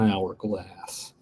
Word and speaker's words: hourglass: with the beginning sound it sounds like a vow even though it's it's a silent h so exactly right so